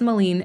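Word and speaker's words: Malin: and spelling yeah I was like uh it's Molen m a l i n I always just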